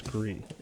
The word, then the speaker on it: Gris: And do you pronounce it Gree or Gris? Because I say Gree for who won last year. I think it's Gree. I forget. I know someone has told me the correct pronunciation. I'm telling you the correct pronunciation is Gree.